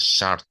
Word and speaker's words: Sartre: Nah, kan ada yang ee ada yang namanya S ee tulisannya Sartre ya, tapi karena dia orang Prancis itu agak dibacanya beda. Shar itu kata teman saya yang dulu kuliah di Prancis itu ya.